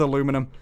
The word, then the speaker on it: aluminium: i'm gonna stick with aluminum aluminium it's aluminium brittam rise up americans couldn't be bothered to pronounce the net the extra eye that's it turquoise turquoise